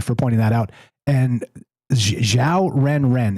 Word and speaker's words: Xiao Ren Ren: and Xiao Ren Ren. It's X I AO Ren Ren and just like it sounds.